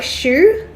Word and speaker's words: choux: before putting it in the waffle iron it's pronounced like choux choux pastry hmm okay I've never heard of